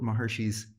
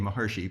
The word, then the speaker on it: Maharishi: truths and that's what maharishi's he pronounced his name maharishi it's in the west we call it maharishi but maharshi's quest was